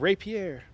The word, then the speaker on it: rapier: You said it like I do with two syllables. You got to print out rapier.